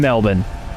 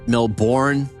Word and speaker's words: Melbourne: Bet, Face It, and Melbourne. Every bit different. Melbourne. Just so you all know, it is pronounced Melbour, not Melbourne. Uh, just for everyone watching from afar.